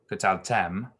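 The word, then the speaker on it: קטלתם: And really though it's the accents on the final part. I didn't pronounce that quite right. It's kataltem. Kataltem.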